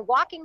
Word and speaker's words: walking: saying, see, honey, you're walking home. Walking begins with W, but it has a silent L. And that is a word that has a, you know, and it rhymes with talk.